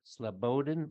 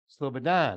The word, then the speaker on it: Slobodan: more okay former Serb leader SLO sodin mosic slobodin mosic sladon Slobodan I had the emphasis on the wrong Sal